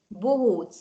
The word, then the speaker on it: bohóc: Bohóc. Ça, vous avez déjà écrit bohóc. Oui, je me souviens plus trop comment ça s'écrit, je dois te dire. Donc, B-O-H-O, accent long, c'est bohóc. Et Ah.